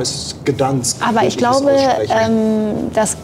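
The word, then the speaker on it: Gdańsk: Und der polnische Name ist Gdansk.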